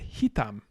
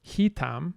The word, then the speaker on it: hitam: a di syllabic word this claims that the stress is final unless the um penultimate syllable is closed he tam it is not closed it's open but yes the stress is on the penultimate syllable and this is probably